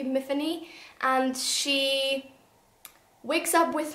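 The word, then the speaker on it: Myfanwy: called Matheny Matheny um I think it rhymes with Tiffany so it should be Matheny and she wakes up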